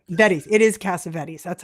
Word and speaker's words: Cassavetes: I say his name wrong all the time because the Greeks would say Cassavetes.